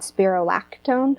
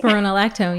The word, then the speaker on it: spironolactone: And the other thing that was really incredible is that I had been on this medication called Spirolactone. I'm not sure if I'm saying it right. Spironolactone.